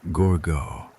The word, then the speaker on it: Gourgaud: He says, "Gourgaud." He says your name in the way he has said it for four years. The slight emphasis on the second syllable that is his particular pronunciation of it and which you have